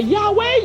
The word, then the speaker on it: Yahweh: Oh mais, bon Dieu dit c'est faussement que vous prononcez mon nom. Faussement. Dans le micro. C'est Yahweh, Yahweh.